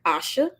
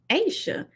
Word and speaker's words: Aisha: So if someone is approaching you, would you rather them to say your name like Asha or Asia, or would you want them to say Aisha? That's how you pronounce my name, Aisha.